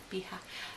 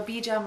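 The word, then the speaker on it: bija: beha mantra baa Mantra I'm Spanish so when I see a j i want to say you know beha so beja Mantra and um so ultimately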